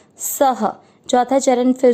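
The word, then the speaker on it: सः: क में अ मिक्स करेंगे करोति, स में अ की मात्रा, तो स और अ की मात्रा इसलिए विसर्ग को पढ़ेंगे ह, सह।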